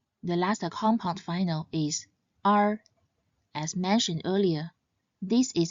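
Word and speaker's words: 二: This character is read in the fourth tone R. R.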